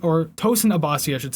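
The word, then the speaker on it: Tosin Abasi: founder of the animals leaders founder and guitarist tosun abbasi or tosan abbasi i should say i always forget how to pronounce his name properly guitarist javier raves and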